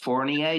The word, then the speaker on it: Fournier: Ladies and gentlemen, I am here with singer, songwriter, and visual artist Fournier. Did I pronounce that right?